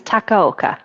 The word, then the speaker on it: Takaoka: tell us your name, the pronunciation. So my last name is Takaoka.